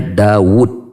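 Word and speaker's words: داود: yadda wudhu ini sedikit Saya ingin menekankan bacanya Dawud pakai Wow bukan Daud ya kita sering membaca tulisan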